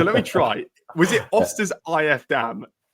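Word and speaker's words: Östers IF: Was it Osters if DAM? It's not bad. Osters EF.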